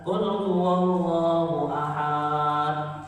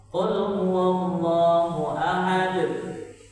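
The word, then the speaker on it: قُلْ هُوَ اللَّهُ أَحَدٌ: Apa kalau ikut yasinan, tahlilan ada yang baca Qul huwallahu ahad. Sampai tua kayak gitu terus, gak bakal berubah dia. Yang benar gimana? Qul huwallahu ahad. Kalau pola dibacanya pendek.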